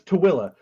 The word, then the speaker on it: Tooele: It's spelled tool, like the fabric. Yeah. But it's Tooele.